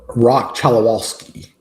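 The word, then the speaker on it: Roch Cholowsky: It's going to be that probably as of now that dude from UCLA, I don't know how to pronounce his name, but he's highly touted. Rock Chalawalsski.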